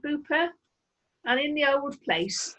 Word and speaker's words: Beaupre: Beaupre, they pronounce it Booper, and in the old place, in the stream, there's all watercress.